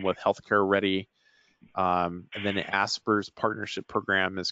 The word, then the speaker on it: ASPR: for preparedness and response which is often just pronounces a spur a SPR certainly that's a good